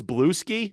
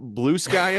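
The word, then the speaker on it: Bluesky: pretty active over there I thought it was bluei not blue sky I like bluei too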